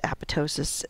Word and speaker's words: apoptosis: where we talk about apoptosis and cell survival so what is apoptosis and you may have heard it referred to as apotosis it's just a regional difference in how you pronounce it um apoptosis is known